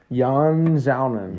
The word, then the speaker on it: Yan Xiaonan: Yan Xiaonan. Yeah, Carolina's had a tough I bet you go. that's how you pronounce it.